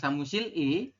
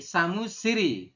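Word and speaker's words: 사무실이: Samushiri, dibacanya bukan samusil i, tetapi samusiri, seperti itu ya.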